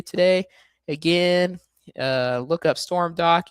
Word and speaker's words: Stormdok: I always say it's like storm and then dock like the boat dock but without the sea.